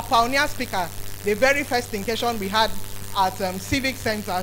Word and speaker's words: Thinkation: please listen carefully, because I've heard all sorts of pronunciations. I've heard Thinkaton, I've heard Think Nation, and all sorts of funny pronunciations. Please, it's a creative measure of thinking and education, is Thinkation.